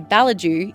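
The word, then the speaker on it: Ballidu: activities for all ages balidoo or as the locals say balaju is the shire's second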